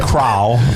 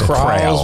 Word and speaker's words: CRAL: CRAL, CRAL. CRAL. I was close. We were close. I was saying CRAL, but it's CRAL. We get crawls. Yeah. And we were calling him Craig too. Craig from CRAL.